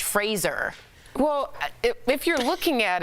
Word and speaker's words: Fraser: So it's Brendan Fraser. Yeah. Like Razor. Right, and then I watched the Adam Sandler interview. He kept calling him Fraser. And he was like, I guess it doesn't matter. I felt so bad. And yeah, I never would have thought, but it's more Irish, Fraser.